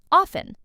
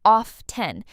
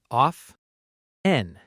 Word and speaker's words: often: Often, some learners pronounce the T clearly, off-ten, but a lot of native speakers say often with a silent T. Let's practice. Off- en.